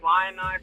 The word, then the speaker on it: Lion!ze: So the name is Lionize, so it's spelled Lionize, but I turned the I upside down. That's why the exclamation mark is there.